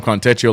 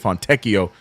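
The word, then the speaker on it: Fontecchio: I've been calling him Contio like he's Italian. I think it's Fonteio. So, my apologies to the Fonteio family for saying his name wrong this whole time.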